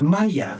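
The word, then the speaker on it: مية: In Egypt, one of the key words for water is Maya. It is not pronounced the same way in any other Arabic country. If you went to Saudi Arabia, they would say Ma or Meh. Only in Egypt is it pronounced Maya.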